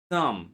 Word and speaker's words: thumb: Silent B most often appears after M. Remember the first word I said thumb. Correct pronunciation is thumb. This finger is called thumb. In English, we don't say letter B at the end because it comes after M.